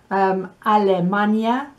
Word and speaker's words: Alemania: In that list, I think perhaps the only one that's difficult to pronounce is Ireland. It's Irlanda. And the only one that's difficult to understand is Alemania.